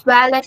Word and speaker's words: valet: Like you said as valet, ma'am. So the T is silent Valet.